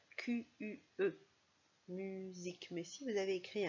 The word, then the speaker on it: musique: Alors ça, il s'agit de musique. Musique. On entend Z comme dans valise.